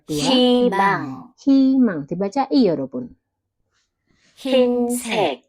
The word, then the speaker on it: 흰색: 흰색, Oke, 흰색. Dibaca i juga 여러분.